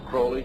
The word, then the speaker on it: Crowley: about was aliser Crawley he likes to have his name pronounced Crowley to rhyme with holy and uh these satanists